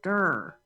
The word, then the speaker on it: Dr: just pronounced that wrong my last name is spelled dr but pronounced der doctor doctor doctor dr